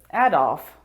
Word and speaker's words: Adolf: that name is adolf which is precisely how i pronounce it adolf adolph as in adolf hitler adolf that's how you say it adolf your boy that's different